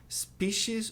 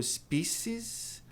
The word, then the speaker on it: species: Veado, veados, deer, alce, alces, moose, espécie, espécies, 2 pronúncias possíveis, species ou species, aeronave ou aeronaves, aircraft,